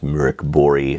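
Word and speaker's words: Mörk Borg: are reviewing pirate Borg which is compatible with mirk bori it's actually pronounced mirk bori so this would actually be pirate Buri if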